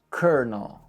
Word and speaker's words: Colonel: The L is actually an R, and the second O is not pronounced. Think of it like kernel. C-U-R-N-U-L. Kernel.